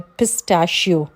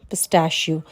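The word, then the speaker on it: pistachio: पिस्ता पिस्ते को क्या कहते हैं इंग्लिश में पिस्ट शियो पिश पिस्ट शियो पी आई एस टी ए सी एच आई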